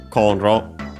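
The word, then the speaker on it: コンロ: First and foremost from cornrow which is a Chinese compound accent on the first syllable uh which means uh cooking stove uh burner gas electric meaning cooking stove uh and so on.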